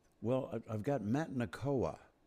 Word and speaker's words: Nakoa: There's also a fellow named Nokia, I think, that you appear with a lot. Or do I have the name wrong? Um, who am I thinking of? Well, I've got Matt Nakoa.